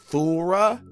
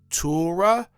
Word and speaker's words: Torah: When saying Torah, some pronounce it thorra, thorra, ta, or thaw.